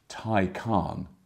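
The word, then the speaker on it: Taycan: hearing a lot about the Porsche Tyco on that's how you say it had to watch a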